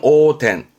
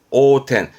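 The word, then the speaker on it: 横転: 라그 텐 라그 요거는 횡자 그 횡 전인데 발음은 오텐 오텐 횡 옆으로 구르는 거이 둘 다 아노 사고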